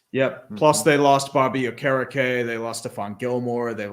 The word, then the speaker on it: Okereke: I thought it was the same too, and then I hear it's Okereke. It's like, damn. It's like saying you think Chuba Hubbard is pronounced Chubba Hubbard, and Oh, then when yeah.